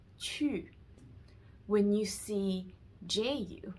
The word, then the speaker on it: qu: When you see QU, it's always pronounced as chu.